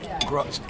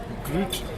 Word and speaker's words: Grutz: Grutz. Grutz. G-R-U-T-Z? Groot. Yeah. Oh. Just one note. It's Dutch, but I pronounce it in English.